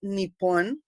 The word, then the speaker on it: Nippon: Well, Japan, pronounced in Japanese Nippon or Nihon, is a Pacific Ocean island nation of the coast of mainland Asia.